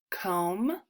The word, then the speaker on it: comb: the MB says mmm so the B is silent let's sound out these words um comb boom tomb Cole I'm